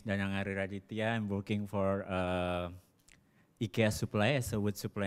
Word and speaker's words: IKEA: I don't know if you should say IKEA, it's probably in Swedish, what's the right way to say? IKEA.